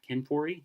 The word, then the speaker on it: Ken Foree: uh you got Ken Foree that her yeah Ken Foree yeah that's how you say his name Ken